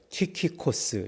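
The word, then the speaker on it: Τυχικός: 써져 있고 어 이제 그 사람의 이름을 이렇게 야기할 때 키코스 이렇게 얘기한다는 거예요 키코스 비슷하죠 발음이 두기고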